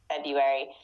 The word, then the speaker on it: February: and honestly um i i think that technically even in american pronunciation we're supposed to put the r in there a little bit like february but most people like don't say that we just say february february um because otherwise